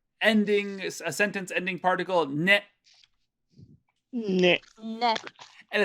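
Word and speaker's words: ね: We have a particle, another ending, a sentence ending particle, ne. Ne. Ne. And it's almost always going to be pronounced ne.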